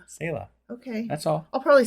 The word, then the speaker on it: Selah: Apparently, Selah is Selah.